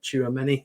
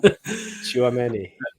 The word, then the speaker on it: Tchouaméni: Tchouaméni, is that right? Yeah, that's right. Probably said that wrong. Tchouaméni.